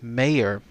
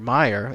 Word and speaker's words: Meyer: by the name of Mr. and Mrs. Mayer, or Meyer, M-E-Y-E-R, I guess is how it's said.